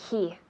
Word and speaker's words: he: Y otra vez con la pronunciación de he. He. La H es suave.